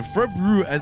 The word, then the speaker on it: February: Yeah, February I I always try and get the R in there because, you know, trying to pronounce it correctly.